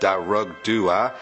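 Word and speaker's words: Dearg Due: Next we have Sully1017 who says Derg Du is pronounced Darug Dua, Alp Luatra is pronounced Alp Ukra, and Slough is pronounced Slua.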